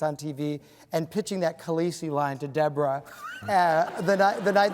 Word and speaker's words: Khaleesi: Khaleesi.